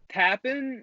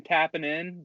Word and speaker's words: Tappin': It's TAP with an apostrophe N. He kept saying tapping in, but that's not what the song title is.